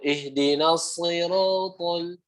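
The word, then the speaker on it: اهدنا الصراط: Ya, huruf shad ingat makhrajnya sama kayak huruf sin, cuma bedanya naikin pangkal lidah biar tebal. Jadinya ihdinas tuh, ihdinas siratal begitu ya. Bukan ihdinasi, bukan huruf sin ya.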